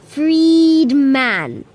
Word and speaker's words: Friedmann: Friedman okay go on say his name slowly Freed Man oh free man whoa that's pretty cool